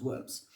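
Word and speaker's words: wyrms: The very stones weep blood, and there are sightings of gigantic worms, but this is spelled worms here spelled W Y RMS, but I presume it's pronounced worms.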